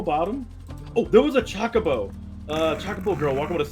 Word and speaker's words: Chocobo: It's Chocobo. pronounced Chocobo. Not chalk. Choke.